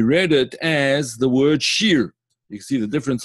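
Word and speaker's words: שיר: This is called a chirik, and it's pronounced E, called Baalei Hashir, right?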